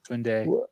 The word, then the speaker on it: Koundé: Julius, how do you guys pronounce his last name? Koundé.